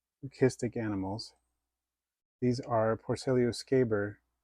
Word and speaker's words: leucistic: a real Fascination for lucis or listic as it's more correctly pronounced listic animals these are porcellio